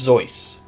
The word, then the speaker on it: Seuss: Yeah, by the family and the author, Theodore Geisel, it was pronounced Zeus.